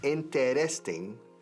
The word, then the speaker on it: interesting: Interesting. 4 sílabas. Lo decimos en 3.